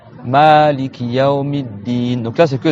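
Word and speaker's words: مالك: Donc, dans cette récitation-là, il faut déjà prolonger le Ma. Maliki Yawmiddin.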